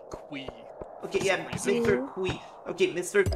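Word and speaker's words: ConcernedApe: I think Concerned Ape said his name is actually pronounced Quee.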